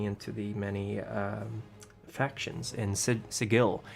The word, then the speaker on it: Sigil: It's Sigil, by the way. It's not Sigil. It says so in the 2nd edition book that anyone who pronounces it Sigil is clearly a clueless Burke who just arrived.